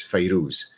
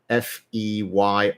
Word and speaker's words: Fairuz: Her name is pronounced in different ways, but probably the most common way, one is Feyrouz or Fayrouz, Fairuz. So there you go.